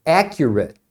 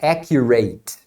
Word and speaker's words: accurate: é assim por ex a palavra significa preciso exato e você pronuncia accurate e não é accurate figures are notur figurate